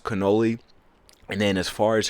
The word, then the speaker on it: cannoli: Um but she was right, it is pronounced cannoli.